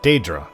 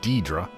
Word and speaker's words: Daedra: The way you guys from Hammerfell pronounce it's Daedra, not Deidre.